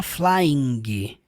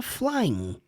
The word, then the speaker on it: flying: Toda vez que você vê um verbo com ing, você não pronuncia a letra G. Você não fala flying. Não, você fala só flying. Termina no som do N.